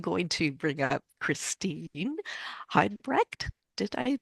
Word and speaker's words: Heidebrecht: I'm going to bring up Christine Heidebrecht. Did I pronounce that right, Christine? Heidebrecht, yes.